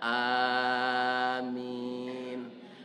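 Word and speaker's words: آمين: berdoa tu Pak A ciri-ciri tulisannya alifnya pakai panjang tiga Alif a mimnya ada ya mati jadi membacanya Amin a Pak pembauran nama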